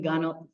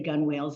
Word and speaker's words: gunwale: which are the wooden gun. How do you pronounce that? Gun, that's what. Yeah, I used to say gunwales, and I knew that was wrong.